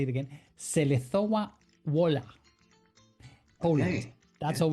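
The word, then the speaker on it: Żelazowa Wola: I know how to pronounce this name. But here we Correct. go. Correct. Selezowa Wola. That's where he was born. Where? In, you make me say it again. Selezowa Wola, Poland.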